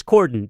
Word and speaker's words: cordon: guy is the transportation secretary but no it's Cordon so we were somebody suggested in the office